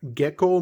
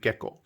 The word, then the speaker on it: Gekko: But this is a Gekko. That's actually the pronunciation of that. Gekko means moon in Japanese. So this basically is the name of the brand, Gekko.